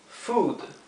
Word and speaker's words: food: decir comida en inglés que es la palabra Food Food significa comida fíjense cómo lo escribí en